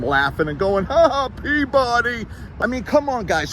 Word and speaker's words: Peabody: The correct pronunciation is Peabody.